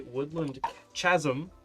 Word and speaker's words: Woodland Chasm: I'm going to play Woodland Chasm.